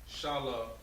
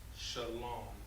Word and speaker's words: shalom: that all right so instead of saying shala 1 is actually pronounced shalom shalom so essentially when you